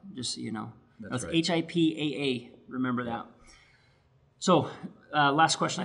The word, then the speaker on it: HIPAA: kind of important and the second P is silent just so you know that's HIPAA remember that so last